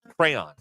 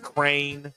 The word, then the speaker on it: crayon: What's the Well, there are people that they like crane. No. Crown. No, crown. We're not from County, Tennessee. Crayon. Yes, it's it's it it's very phonetically spelled out. Cray on. It's right there.